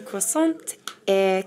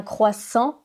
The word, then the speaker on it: croissant: Je voudrais une croissant et café au lait. Un croissant, pas une croissante. Le T est muet à la fin.